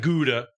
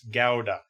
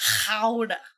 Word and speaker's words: Gouda: It's not Gouda. It's Gouda. It's If you want to get real fancy, howda. Edama.